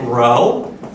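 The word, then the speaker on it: rho: symbol that you've seen this is a Greek letter they pronounce it row and this is how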